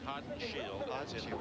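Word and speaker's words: Haudenschild: And it is pronounced hot shield windshield because that child on the end, the wild child, a lot of people mispronounce it.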